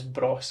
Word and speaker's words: Bros: So Bros, although Bros does rhyme with Goss, their surname, and the